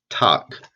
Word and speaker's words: talk: is talk same thing the al is not making the all sound this is pronounced talk can you use that